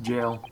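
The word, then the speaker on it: gaol: No, it's pronounced jail. Oh, really? The old spelling of jail.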